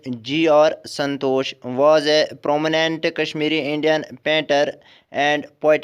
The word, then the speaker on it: KSHMR: Then next one is KSHMR, Kashmir Niels Hollowell Dar, born October 6, 1988, better known by his stage name KSHMR, pronounced Kashmir, stylized as Kashmir, is an American musician, record producer, and DJ of Indian descent.